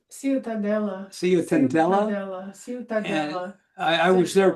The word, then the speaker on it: Ciutadella: How do you pronounce that, sweetie? Ciutatata? Ciutadella.